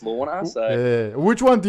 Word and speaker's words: Launer: A lot of people tend to say that, there's two ways you can say it. There's Launer or Launer. A lot of people say it's Launer, but I think it's pronounced Launer.